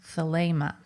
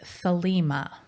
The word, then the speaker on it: Thelema: Now, I noticed that during the interview I say Thelema a lot, differently than Thomas, and I suppose there's a kind of unconscious Crowley thing going on, but I would say that Thomas's pronunciation is the correct one, and therefore in the future I'll do my best to say Thelema too.